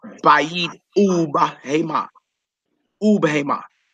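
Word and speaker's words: ובהמה: Notice it is bayit ub hema. It's not bayit wa bahema. We know bahema means animal, right? It's bayit ub hema.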